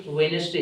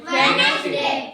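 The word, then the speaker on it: Wednesday: होता भाई यहां पे साइलेंट है डी यहां पे साइलेंट है साइलेंट का मतलब चुप चुपचाप बैठा है डी यहां पे चुपचाप बैठा है इसको आप प्रोनंसिएशन नहीं करते इसके आप प्रोनंसिएशन नहीं करते उच्चारण नहीं करते इसका इसको साइलेंट रखेंगे और कहेंगे वेनसडे क्या कहेंगे वेनसडे वेनसडे क्या कहोगे वेनसडे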